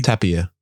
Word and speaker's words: Tapia: Tapia.